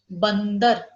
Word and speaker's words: बंदर: तो देखो अब हम कैसे इसको प्रोनाउंस करेंगे, बंदर, ठीक है। बंदर साउंड किसका आ रहा है, हाफ का। देखो यहाँ पर उस पर जोर आ रहा है, बंदर, थोड़ा टाइम लग रहा है हमें प्रोनाउंस करते वक्त, इसका ध्यान देना आपको।